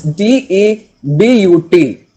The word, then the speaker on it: debut: right other the next day next word it's d e b u t d e b u t put a hyphen it's pronounced as d e i b y o